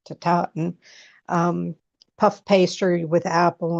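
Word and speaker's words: tatin: I always say tartaten, but it's taten.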